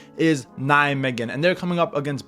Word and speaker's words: Nijmegen: Obviously, in the last video, I was pronouncing it Nijmegen and everyone was flaming me in the comments, so I have figured out that the proper pronunciation is Nijmegen, and they're coming up against Bodø Glimt, who